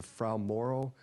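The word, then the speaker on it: Fra Mauro: First of all, you were expecting to land, I believe the pronunciation is a Frau Moro, sort of area on the moon.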